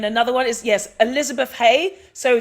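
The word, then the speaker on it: Haigh: Elizabeth Haye. So, their surname is spelled H A I G H. Okay. Elizabeth. H A I G H. That is Elizabeth Haye.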